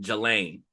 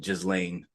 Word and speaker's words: Ghislaine: He has connections with Epstein and Ghislaine. Ghislaine, Ghislaine. Ghislaine. Yeah, her because her name is spelled Gislain and Ghislaine. Gne or something like that.